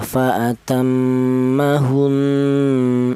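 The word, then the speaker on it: فأتمهن: Dimana ini cara bacanya ya, fa'atammahun, ada dengung 2 ketukan hun, seperti itu.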